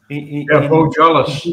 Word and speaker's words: Beaujolais: I'd like to kind of just clear up the pronunciation of Beaujolais. Yeah. Beaujolais.